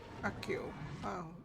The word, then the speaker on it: accio: the symbols but axio accio it's a hard C it's not bad I